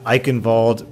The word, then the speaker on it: Eichenwalde: unveiled their newest map I involed pronounced with a V and I have to